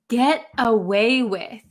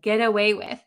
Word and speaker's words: get away with: ooh get away with get away with so in American English when we pronounce this really really quickly this tea is going to become a D sound an English D sound get away with get away with okay